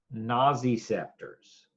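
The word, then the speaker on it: nociceptors: for you here pain receptors are also called naazy scepters okay that's a strange word and I'll spell it for you pain receptors are also called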